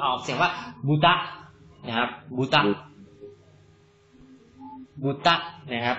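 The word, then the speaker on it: ぶた: บูตะ นะ ครับ จริง ๆ ออก เสียง ว่า บูตะ นะ ครับ บูตะ บุตะ นะ ครับ แล้ว ถ้า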